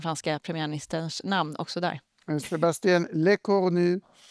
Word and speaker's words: Sébastien Lecornu: Sébastien Lecornu uttalas det.